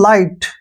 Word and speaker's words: light: ध्यान रखिए, जब किसी वर्ड के लास्ट में GHT आए तो जी और एच दोनों साइलेंट रहते हैं। यहाँ पर एच की बात हो रही है मेन। जैसे LIGHT, दोस्तों हम इसको क्या पढ़ते हैं, इसको पढ़ते हैं हम लाइट। क्या पढ़ते हैं, लाइट।